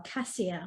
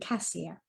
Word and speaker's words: cassia: 75 p and the oils in there are cassia which is the oil of self-assurance clove the